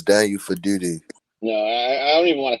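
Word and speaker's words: Daniel Faalele: I think that Daniel Falele and Andrew Voorhees are terrorists and should not be playing anymore. You said his name wrong. It's Daniel Faduti.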